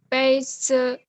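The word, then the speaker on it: 杯子: 杯子。杯子。 Z-nya nada 5, nggak ada tanda. Jadi nada 5 itu bacanya pendek ringan ya.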